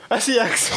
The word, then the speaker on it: SECKS: It's pronounced sex, but it's not SEX.